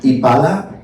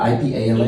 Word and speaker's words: Ipala: So how do you pronounce that? Ipala. Ipala? Ipala, I-P-A-L-A.